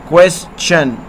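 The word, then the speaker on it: question: اگر لفظ میں اس کے بعد ٹی آئی او این آئے یا ٹی کے بعد یو آر ای آئے تو ٹی کا تلفظ چ جیسا ہوتا ہے، جیسے کویسچن. ٹھیک ہے نا.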